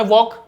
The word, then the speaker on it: walk: WALK, English में वॉक, Hindi में वॉक यानी चलना।